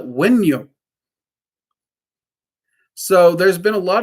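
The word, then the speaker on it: Wunjo: Like technically the pronunciation of Wunyo is Wunyo. A lot of people will catch me with my southern twang. I will call it Wenyo.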